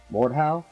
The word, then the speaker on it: Mordhau: or without the EE what it's German and roughly translations the murder stroke I found an audio file of a German pronouncing it here send it on this one is welcome back listen mordhaus replay Mort how Mort how let me know Walt Oh Mort ow that's how they pronounce it on the German website